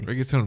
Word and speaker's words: reggaeton: It's a reggaeton?